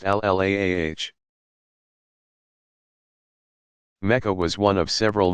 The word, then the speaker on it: Allah: That power they called the god, al-ilah, or Allah, pronounced al-laah.